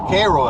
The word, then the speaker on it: Cairo: And I think I'm going to be near uh Cairo again or Cairo as they call it, Illinois.